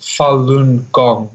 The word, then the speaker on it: Falun Gong: It's pronounced Falun Gong, also known as, yes, Falun Gong, or Falun Dafa is the other name.